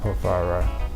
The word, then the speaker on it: Porphyry: to Porphyry or Porphyry. Am I saying it right now? Porphyry. Yeah, Porphyry.